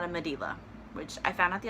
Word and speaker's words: Medela: my pump review spoiler alert it's not a medela which I found out the other day that's how you pronounce that I had no clue alright like I always held that medulla I always thought it was a medulla pump